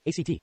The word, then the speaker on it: ACT: At a high level, ACT, pronounced ACT, not ACT, looks at how our thoughts influence our behavior, and offers tools for debugging when our minds get stuck.